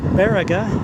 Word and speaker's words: Baraga: go anywhere so here's the town of uh baraga is how they pronounce it i just went into the hilarious